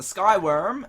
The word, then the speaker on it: SkyWyrm: So yes, the SkyWyrm, it's spelt worm with a Y, as in the Old English word for dragon.